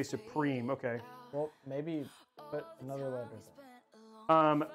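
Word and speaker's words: Suprim: We have Supreme. Oh, it's Supreme. Okay. MSI wants me to say Supreme.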